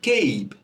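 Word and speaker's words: cape: কিন্তু এই CAP এর পরে যদি ই যুক্ত করি তাহলে এর উচ্চারণ হবে কেইব। উচ্চারণ কি হবে? কেইব।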